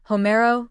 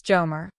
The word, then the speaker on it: Homero: Homero versus Jomer.